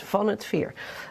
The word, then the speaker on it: Van 't Veer: Dutch pronunciation is van het Veer, but actually Veer.